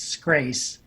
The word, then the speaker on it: Scrace: Scares, can you speak to the spread that we're seeing in nursing homes and assisted living facilities? Sure. Everybody says and pronounces my name incorrectly. It's Scrace, rhymes with grace.